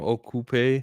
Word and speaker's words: Okupe: RG shamber Castle uh spell his name okupe um a k u